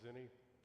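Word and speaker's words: Xini: uh at a reserve I can't pronounce the way the locals do it's x i n i I'm going to call it Zin when locals talk about it it's with a click in it I'm not going I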